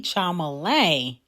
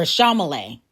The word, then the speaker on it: Chalamet: Now, Doja Cat has dragged Timothée Chalamet, or Chalamet. I've been saying his name wrong.